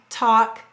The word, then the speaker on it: talk: have the word walk talk chalk notice the l is silent however the l in these words is telling the a that it's broad so that's why the a is broad and walk talk and chalk it's it's